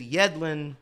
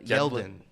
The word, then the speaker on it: Yedlin: pronunciation check for you it is Yedlin not uh yelen yelen yedin yeah just doesn't matter